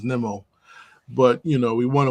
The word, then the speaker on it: Nimmo: I used to call him Nemo, but his actual pronunciation is Nemo.